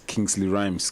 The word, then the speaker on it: Kingsley Rymz: social media links so my social media is kingsley rhymes k i n g s l e y r y m z that's it rhymes everywhere kingsley rhymes for hits he hit